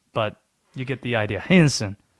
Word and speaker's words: Henderson: It is two syllables the way that people from Henderson pronounce it. Henson. That is What? 30 minutes from where I'm from. Henson.